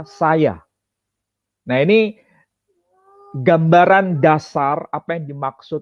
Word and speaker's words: saja: Kemudian tulisan S-A-J-A. Kalau ejaan Van Ophuijsen itu tidak dibaca saja, tapi dibaca saya.